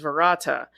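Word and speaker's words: Barada: say the words Klaatu Barata Nikto as a repeated homage to the day the Earth stood still, but a slight variant in the word he pronounces the second word as Varata.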